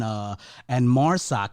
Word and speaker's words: Marsoc: I was going to ask you about the voiceover situation because I love the voices in Prodigal X and Marsoc. Is that how you pronounce it?